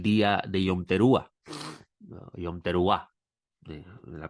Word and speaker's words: Yom Teruah: Yom Teruah, la pronunciación correcta, Yom Teruah.